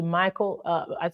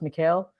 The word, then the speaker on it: Mikael: I want to give a massive shout-out to Michael I'm sorry, I think his name is pronounced Mikael Mboladinga from Congo, who actually